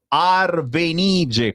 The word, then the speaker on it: Arvenige: Fatto sta, signori, che Ginevra in arte Arvenige con l'accento sulla i è appena uscita con